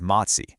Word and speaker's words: MOTS-c: We're going to talk about a really fascinating peptide called MOTS-c, and that's pronounced MOTS-c, and how it might just be a key piece in solving this whole metabolic puzzle.